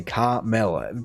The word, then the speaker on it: caramel: I mean, if we come back to the caramel one, it's a similar thing because they just say caramel. Completely forget the second A, caramel, where in reality you say it caramel.